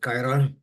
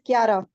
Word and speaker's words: Kiara: Is it Kyra? It's Kiara.